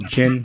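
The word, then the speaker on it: Djinn: for my band channel chin which is DJI nn the D is silent you can find all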